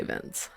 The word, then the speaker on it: Vinch: Is his name Vince or Vinch? Cuz it's spelled like Vinch, but we're going to say Vince.